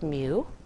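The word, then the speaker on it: μ: it's called me mu it's like an m and a u it's pronounced mu and this if you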